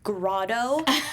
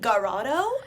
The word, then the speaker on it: grotto: think first of all I would love for Scott to pronounce grotto the right way I mean we all kept looking at each other he kept saying urato yeah oh my god